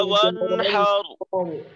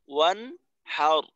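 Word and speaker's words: وَانْحَرْ: সাদ র এর কেউ খেয়াল রাখবো ফসল্লি লিরব্বিকা ওয়ানহার ফসল্লি লিরব্বিকা ওয়ানহার এখানে আবার ওয়ান নুনের জজমটাকে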